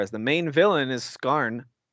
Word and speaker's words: Skarn: the main villain is skarn like michael scar like and it's spelled the same way like it's michael it's